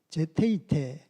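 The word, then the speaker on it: ζητεῖτε: 예, 찾으라, 제테이테, 이것은 발견하다.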